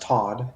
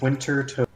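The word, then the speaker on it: Wintertodt: It's pronounced Toad. It's not pronounced Todd. It's Toad. Is it pronounced Tot? Winter Tot? No, it's pronounced Winter Toad.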